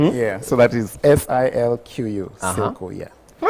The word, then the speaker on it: SILCO: So this is SILCO. SILCO. Or silk. Oh, like silk material, SILCO. There you go. So you guys make shirts? No. Yeah, so that is SILQU, SILCO, yeah.